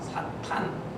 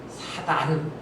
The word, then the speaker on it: 사탄: 사탄. 근데 이 사탄을 번역을 할 때 예전 개역 성경에는 사단 이렇게 번역을 했는데 발음을 좀 정확하게 해서 사탄 그러면 좋겠어요.